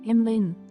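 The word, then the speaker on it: Emlyn: that name please use you know what it's pronounced how emlin Emin Emma what emlin emlin Emin Emma say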